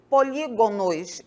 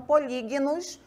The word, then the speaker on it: polígonos: começar justamente por aí polígonos e Não polígnos como costumeiramente aí ouvimos alguns pronunciarem então polígonos Tudo bem por